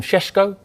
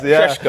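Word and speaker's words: Šeško: Benjamin, we call him Sesko? Hey, we have Tim Vickery a bit later on, maybe. He's great at pronunciations. Sesko, I think that's how you pronounce it.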